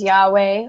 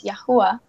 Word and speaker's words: YaHuWah: to make it clear, I have nothing against people who believe in a different pronunciation of the name, such as Yahweh, or, you know, however they believe in pronouncing the name. But for me personally, I so desired to be united with my husband and how I was convicted in saying the name as YaHuWah.